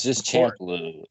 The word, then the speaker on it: Champloo: Champloo. It's not. There's Of no course. N at the end. Oh, whatever. Champion.